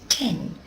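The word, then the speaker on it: 店: It's pronounced using its on reading, that's its Chinese reading, and that's ten.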